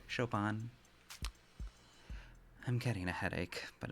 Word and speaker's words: Chopin: Chopin runs in and turns his back on a violent criminal?